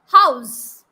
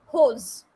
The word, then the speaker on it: house: less what client yes house here u sound is very important to make people understand yes you are speaking about a house but what people do they pronounce it as holes holes what is the meaning